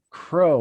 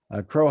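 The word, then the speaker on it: Kroah: and linux foundation fellow greg crowe i think is how it's uh pronounced k-r-o-a-h dash hartman has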